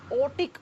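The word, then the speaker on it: aortic: Ventricle होता है उसमें आयोटिक वाल्व होता है। इसको प्रोनाउंस करते हैं तो आर साइलेंट हो जाता है। ओटिक ओटिक वाल्व कहते हैं इसको।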